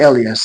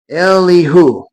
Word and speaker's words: Elihu: That's not Elias, sorry. Eli, I'm saying his name wrong. Let me get it real quick. Here it is. Elihu.